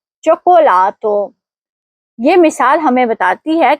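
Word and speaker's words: cioccolato: پہلا چی ای کے ساتھ اس لیے اس کی آواز چ ہوگی اور دوسرا چی او کے ساتھ اس لیے وہاں آواز کے ہوگی. اس لیے صحیح تلفظ ہے چوکولاتو.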